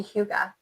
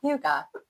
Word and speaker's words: hygge: Very Hygge. Very. Did I say it wrong again? You said it right.